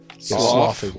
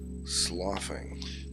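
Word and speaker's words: sloughing: It's more like it's spelled like do but with a SL instead of a D.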